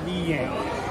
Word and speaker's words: Villena: Si dice si pronuncia Villena. Il primo è più facile.